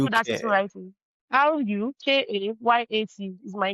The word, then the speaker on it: Rukayat: RUKAYAT is my name. I believe that's the one I have. It's against what you had there. RUKAYAT. RUKAYUT.